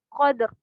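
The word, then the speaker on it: القدر: Kemudian cara membacanya adalah huruf sukun yang pertama dibaca dan huruf sukun yang kedua juga tetap dibaca, tapi dibaca dengan ringan. Huruf sukun yang pertama dibaca ringan. Qadr, qadr, qadr, soda.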